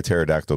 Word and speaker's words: pterodactyl: real quick uh why why can't you hear pterodactyl go to the bathroom I don't know cuz the p is silent nice I like that